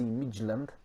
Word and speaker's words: Midtjylland: We're in the Europa League against FC Midtjylland. I got that right. I've heard it pronounced.